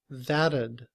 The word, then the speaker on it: that'd: When we combine ud with that, the T in that sounds like a D, and we say that'd, that'd.